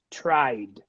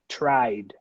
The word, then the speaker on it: tried: called good number six the verb try voiced repeat tried D okay tried number seven needed the